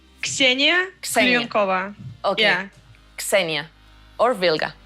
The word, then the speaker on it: Ksenia Klyonkova: how is it correctly pronounced, your name? Ksenia Klyonkova.